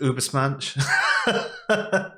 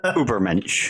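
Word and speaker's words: Übermensch: Is it Ubersmensch? Ubermensch. Ubermensch. There you go.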